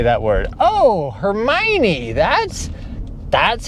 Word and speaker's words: Hermione: that's that's how you say that word oh Hermione that's that's how you say her name.